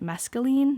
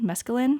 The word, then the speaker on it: mescaline: plants um poppy coffee and masculine mescaline I think that's how you pronounce it um so I did